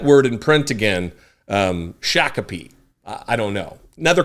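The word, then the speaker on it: Shakopee: want to tell you it's called Shaka Shaka Shaka all right thank you love your show thank you I don't remember how I pronounced it um probably shakobe or shopi or I don't remember but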